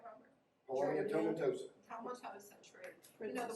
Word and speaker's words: tomentosa: Well, that's like the Polonia tomosa. Did I say it right, Robert? Polonia tomentosa.